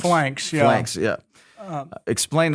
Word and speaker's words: Phalanx: You started with the picture of the Greek, I don't even want to try to pronounce it, Phalanx. It's called Phalanx, yeah.